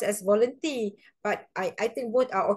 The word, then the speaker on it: Volenti: But sometimes a student like to pronounce as voluntary. I mean, it's okay so long you have the spelling correct lah. Okay, usually for myself, I pronounced as Volenti, but I think both are okay, Volenti or